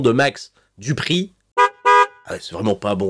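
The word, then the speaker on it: Max Dupri: max du prix d'ailleurs y insister sur la prononciation son truc c'est un petit peu à la française max du prix bronze rapanos hibon running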